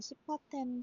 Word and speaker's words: CIFAR-10: 챕터 2는 데이터 증강과 시파 10 실습으로 진행을 할 건데요 어 여기서 그 좀 오해하지 않으셨으면 하는게 이거 시파 10 데이터셋은이 발음이 맞습니다 정말 맞고요 어 브에서 굉장히 유명한